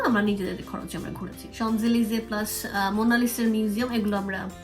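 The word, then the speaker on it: Champs-Élysées: Shopping centre, ওইটাই হচ্ছে শানজেলিজ। শানজেলিজের যে স্পেলিং মানে ওয়ার্ড গুলো পড়লে এরকম হবে প্রোনাউন্সিয়েশন, মানে আমার কাছে চ্যাম্প লিয়াজ ইজ সামথিং এরকম হবে, বাট এটার প্রোনাউন্সিয়েশন ওইটা না, এটা হচ্ছে শানজেলিজে।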